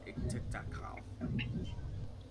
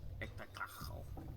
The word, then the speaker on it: Ixitxachitl: They're known as Iktiktakal. And I dare anyone to correct me on that pronunciation, because it is IXITXACHITL. Iktiktakal.